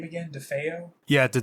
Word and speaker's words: DeFeo: For instance, I forget, how did you pronounce the name again? DeFeo? Yeah, the DeFeo murders.